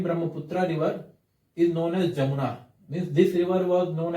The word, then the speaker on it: Jamuna: In India, it is known as Brahmaputra, and when it enters Bangladesh, it is known as Jamuna. Remember this, it is not Yamuna. Yamuna is spelled as Y-A-M-U-N-A, and here we have Jamuna, J-A-M-U-N-A.